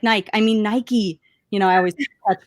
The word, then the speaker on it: Nike: Mike it's spelled Mike like why is it pronounced Nike anyway so it's true I still mess up all the time and I'm like Mike I mean Nike you know I always touch myself now we're